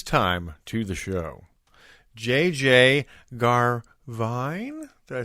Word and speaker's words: Garvine: welcome at this time to the show JJ garvine did I say it right oh yeah that